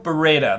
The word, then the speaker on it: Beretta: Brand new Beretta.